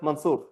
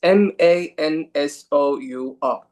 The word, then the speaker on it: Mansour: It's M A N S O U R. It's not M A N S O O R. It's different when you pronounce it. So, for example, if I want to say Mansour or Mansour, it's very different.